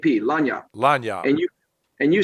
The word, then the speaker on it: lagniappe: You could pronounce it Lanyap.